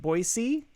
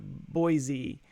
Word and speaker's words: Boise: I found out that Boise Idaho it's actually pronounced Boise not Boise and they had signs up everywhere the head